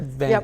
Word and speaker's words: Vancouver: Vancouver, I said it right?